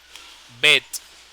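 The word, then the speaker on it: בית: que bet es decir cuando uno dice la letra bet uno pronuncia la t la t al final bet bet como si fuera una cabrita una ovejita bet con los labios termin ha okay Porque esa es la t final bet bet Esa es la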